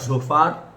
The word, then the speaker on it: Zophar: तीसरा जोपार, है ना, सोपर था, सोपर, हिंदी में सोपर बोलते हैं, जोपार को सोपर बोलते हैं हिंदी में।